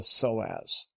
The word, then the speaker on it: psoas: strong deep low back muscle called the soaz and by the way that's spelled p-s-o-a-s should anyone care to